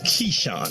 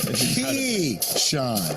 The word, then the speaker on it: Keyshawn: what do you think is that the way you emphasize Keyshawn key Sean it wasn't just like Keisha you know he's a key shot oh he got that Swag Like That this is Keyshawn J Will and Max